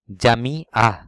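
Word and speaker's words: جامعة: জামি আহ অর্থ বিশ্ববিদ্যালয়, দেখুন জামি আহ অর্থ বিশ্ববিদ্যালয়, জামি অর্থ মসজিদ। তাওয়ারাহ অর্থ বিপ্লব, তাওয়ার অর্থ সার, দেখুন, একটু উচ্চারণের কারণে কিন্তু শব্দগত পার্থক্য অনেক বড়, এবং সেজন্য আপনারা অবশ্যই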